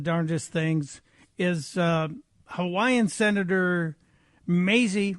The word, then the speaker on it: Mazie: And one of the regulars in Democrats Say the Darndest Things is Hawaiian Senator Mazie, rhymes with crazy, Hirono.